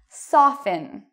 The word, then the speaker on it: soften: So even though you see T-E-N, T-L-E, T-E-N, you do not pronounce the T in these words.